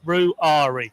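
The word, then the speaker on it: Ruairi: don't watch yesterday's prent because I'm sure I called him Rory I'm sure I've seen or heard somebody called him Rory but it's R ruari ruari yeah three syllables okay however you pronounce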